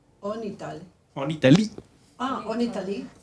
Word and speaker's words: Italie: La I se pronuncia. En Italie.